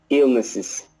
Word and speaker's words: illnesses: Illnesses. That's better, yeah. So you need to stress that beginning bit.